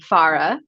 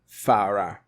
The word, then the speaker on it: Farah: it like pharah okay so it's pharah Farah but with that with an open a sound Ah that's right right